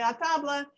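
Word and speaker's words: à table: we've called a tobler which in french means come to the table the french say a tabla and we say the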